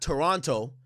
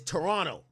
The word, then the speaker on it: Toronto: It's not Toronto, it's Toronto.